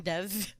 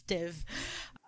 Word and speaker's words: div: Sorry, I keep saying dev, but it's pronounced as div.